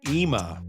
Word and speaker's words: Ima: Whether you pronounce it Ima or Imma, I'm gonna go in there and get a bite to eat. I hear it's pretty good. Actually, Tom, it's pronounced Ima.